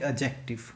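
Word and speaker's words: adjective: Okay, interior interior होता है एक एडजेक्टिव। मैंने बोला एडजेक्टिव, नॉट एडजेक्टिव। एडजेक्टिव में डी साइलेंट होता है तो प्रोनाउंसिएशन आती है एडजेक्टिव।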